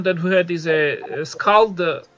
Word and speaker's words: Skald: And another idea suggestion that we had is a Skald, I think it's pronounced Skald, hopefully, character for the kind of male character, and if we have time we will do that as well today.